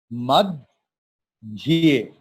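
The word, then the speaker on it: मध्ये: Madhye Mahabharatam. Suppose in Hindi हम लोग बोलते हैं मध्य और Sanskrit. So that see, dhya is conjunct consonant, dha and ya. How we are pronouncing? Mad, dhye.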